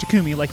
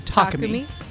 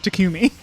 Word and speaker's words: Takumi: take me a second is his name is pronounced Tkumi. You just said, "I've watched two Let's Players play this game, and both of them very adamantly refuse to call him Tacumi and call him Takami, which is just not how it's pronounced.